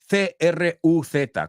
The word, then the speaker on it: Cruz: Es como, tú piensas en tu cabeza C-R-U-Z, como un americano pronunciaría Tom Cruise. O sea, para nosotros, Penelope Cruz and Tom Cruise se pronuncian igual.